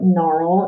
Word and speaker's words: gnarl: g n digraph okay in the gn digraph the g is silent okay it says that sound but it is silent in words like gnarl and gnome and new